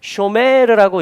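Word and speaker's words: שׁוֹמֵר: 그래서 이걸 이제 샤마르인데 쇼메르라고 읽으면 이게 뭐냐면 파수꾼이라는 얘기가 됩니다.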